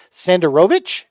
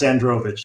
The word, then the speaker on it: Sandrovich: in your name deal sander rovic did I say it right let's find out yeah that's close sandrovich sandrovich okay I just added a vowel that's all yeah all good